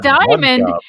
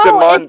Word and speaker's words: Demande: I was like, Diamond! Who the fuck is Okay, Diamond? yeah, Prince No, Demande.